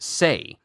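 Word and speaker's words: 星: The Kiai shout can be different for each martial artist, and one of Rekka's is the word Sei, pronounced Sei.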